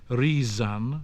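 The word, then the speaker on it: rīsan: Generally speaking, the voiced sounds z occurred between vowels. So thenchan, to think, but other, other. Leof, dear, but lovian, to love. Seon, to see, but rizan, to rise.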